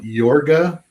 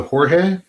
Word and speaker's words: Jorge: has ever happened uh somebody read my name and pronounced it yorga as opposed to Jorge I love it which